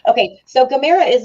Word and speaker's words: Gamera: again or Gamera guys Gamera is how I pronounce it that's how they pronounce it in the the Japanese because I watch all